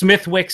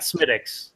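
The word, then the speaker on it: Smithwick's: Just like it's Smithwicks and not Smittix.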